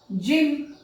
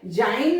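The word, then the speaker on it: gym: जिम, जी वाई, जाइन नहीं होगा, क्या होगा? जिम.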